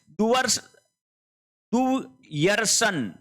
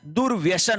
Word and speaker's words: दुर्व्यसन: फिर देखिए दुर् यर्सन तू यर्सन ये गलत है। शब्द क्या होता है? दुर्व्यसन होता है।